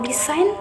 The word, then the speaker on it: design: The letter G will become a silent letter when there is an N after it in a word of, for example, design, sign, foreign, campaign. Number four, the silent N.